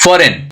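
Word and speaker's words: foreign: उसी तरह से शैंपेन में जी और एन यहाँ पे है, जी हो गया साइलेंट लेटर और एन यहाँ पे प्रोनाउंस करते हैं। फॉरेन, यहाँ पे जी और एन, अगेन यहाँ पे जी क्या हो गया?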